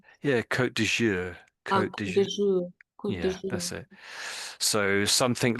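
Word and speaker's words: Côte d'Azur: Kazour is it? Yeah. Yeah. That's pretty much pronunciation. Yeah. Kot dour co that's it so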